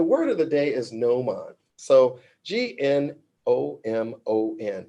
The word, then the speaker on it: gnomon: And then the word of the day is gnomon. So Gnomon, gnomon, where the G is silent in this case.